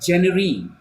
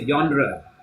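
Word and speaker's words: genre: My student she used जेनरी. इट्स नॉट जेनरी, इट्स अ यॉनरा. इट्स यॉनरा.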